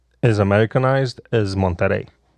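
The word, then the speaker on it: Monterrey: then I went to monter monter mon yeah you got to roll your RS listen listen it was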